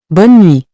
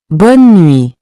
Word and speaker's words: bonne nuit: Next is bonne nuit. It means good night, and it's used when someone is going to bed or when you're saying goodbye late in the evening. Let's pronounce it. Bonne nuit.